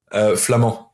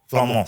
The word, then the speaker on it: Flament: Are you Flamand or Flamont? Flamand. Flament. Silent T. Silent T, okay. That's Silent T, yeah.